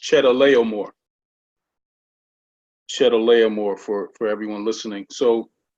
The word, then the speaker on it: Chedorlaomer: The king of Elam, that's pronounced Chedorlaomer.